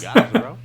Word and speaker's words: Zorro: Zorro? No. It's pronounced Zorro.